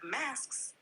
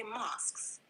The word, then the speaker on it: mosques: Instead of masks, you meant to say mosques.